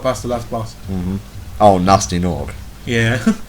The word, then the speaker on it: Gnasty Gnorc: Oh, Nasty Nog. Yeah. who by all rights should be pronounced Gnasty Gnorc. I think some people actually do pronounce him Gnasty Gnorc.